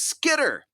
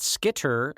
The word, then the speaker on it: Skitter: out, and I think there was a little bit of a hard T there where I would pronounce it Skitter.